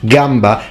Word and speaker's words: gamba: and crazy i mean everyone knows it's pronounced gamba and kieza but for future italians